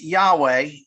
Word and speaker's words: Yahweh: written was yhwh um it's pronounced yahweh when you add in the vowels but jews would never